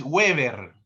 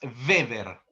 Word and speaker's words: Weber: No es Weever, nada de Weever. Max Weber.